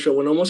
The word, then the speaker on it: schwannoma: La relación que existe entre los schwannomas y neurofibromatosis es importante, puesto que Brandon, en aquel... déjame te apoyo ahí un poquito. Es schwannoma, la pronunciación es como schwannomas.